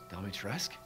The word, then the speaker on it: Dimitrescu: Dimitrescu?